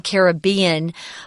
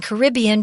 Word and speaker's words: Caribbean: Yeah, I say I read this article as Caribbean, but uh like Tom, I grew up saying Caribbean. Once I moved back to New York, I started saying Caribbean because everybody else did and you just kind